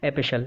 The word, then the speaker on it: epistle: A letter, इसकी spell याद रखना, EPISTLE, टी साइलेंट होता है, एपिशल।